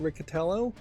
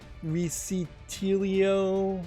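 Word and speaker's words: Riccitiello: I understand it, is his last name is pronounced Riccatello, but I'm saying I've heard people pronounce it Riccitelio or Riccatelio, but I think the second I here is just kind of silent, and it's Riccatello.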